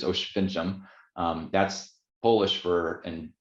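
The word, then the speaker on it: Oświęcim: in osh fincham which is english we might pronounce it oswesom but it's osh fincham um that's polish for and auschwitz is the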